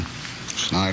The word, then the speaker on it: schneid: And Mark kind of got us off the schneid, and schneid, or whatever the word is. Y'all will hopefully spell it right for me.